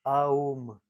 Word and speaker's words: Om: Et moi, en même temps, je vais prononcer une petite mantra de Om qui signifie de 3 canaux. Parce que le Om, il se compose au Aum. Aum, ça signifie les 3 canaux qui ont nous, dans notre système subtil.